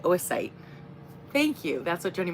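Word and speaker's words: oocyte: The pronunciation. Oasite. Oo c y t e. Oasite.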